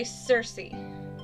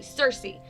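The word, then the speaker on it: Circe: not sure how pronounces i'm going to say cersei it's c-i-r-c-e cersei and she's like the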